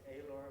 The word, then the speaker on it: Aylor: It's Aylor, like sailor without the L.